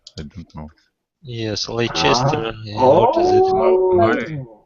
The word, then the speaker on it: Leicester: it may not be as you expect because they are not pronounced exactly as they are written.